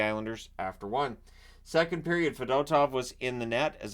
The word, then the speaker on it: Fedotov: Fedotov, the backup, and that's how they were pronouncing it, was Fedotov, so I will pronounce it that way.